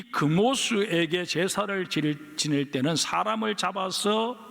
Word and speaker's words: 그모스: 그러나 혈통만 그랬을 뿐이고 오랜 세월이 흘러오는 동안 모압은 하나님을 버리고 그 모습, 히브리 원어 발음으로는 케모시라고 부르는 전쟁의 신을 섬기고 있었습니다. 뿐만 아니라 이 그모스에게 제사를 지낼 때는 사람을 잡아서 바치는 인신 제사를 드렸습니다.